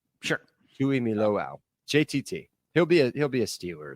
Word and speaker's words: Tuimoloau: JT Tuimalilo. No way I said that. Tuimolo. Tuimoloau. Or no, Tuimoloau. Sure. Tuimoloau.